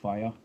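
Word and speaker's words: Faye: It's pronounced Faya, kind of like the fire engine.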